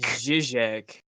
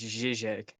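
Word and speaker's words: Žižek: Zizek. It's Zizek. Yeah, I'm not pronouncing that, bud. Zeke. It's easier than Zizek. Yeah. Well, it's just a de like it's a mix of a D and a Z.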